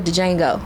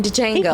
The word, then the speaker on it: Django: a huge fan of Django I know that is silent but she's giving heavy Ste energy heavy Steven energy Samuel Jackson energy in Django play the hell out